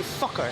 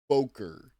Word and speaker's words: Fokker: But a pal of his called Anthony Fokker succeeds.